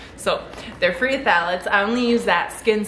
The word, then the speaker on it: phthalates: are all valid free i always have a hard time with that word because i always want to pronounce the ph in it but there it you have to ignore it so they're free phthalates